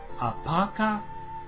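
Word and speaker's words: Apopka: Box 4416, Apaca, Florida 32704, y solicita un curso bíblico por correspondencia de la escuela Emmaus.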